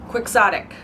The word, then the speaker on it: quixotic: Why are we not pronouncing it Quixotic? Why quixotic? Quixotic. Don Quixote. Quixotic. Who did that? Who was in charge of that conversion? I'm not a fan of that.